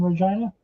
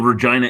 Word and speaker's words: Regina: Well, Regina is the city that rhymes with fun.